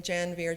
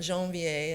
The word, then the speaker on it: Janvier: I just want to say you'll notice I'm pronouncing janir janir not janvier as it as you might expect here in